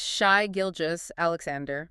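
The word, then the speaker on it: Shai Gilgeous-Alexander: the last few years, let's get the pronunciation right immediately. It is Shai Gilgis Alexander.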